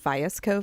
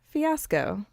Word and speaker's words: Fiasco: I remember it because I was pronouncing it feeis Co farms like for forever oh and then I was looking at it one day and I was like Oh fiasco yeah ha ha I speak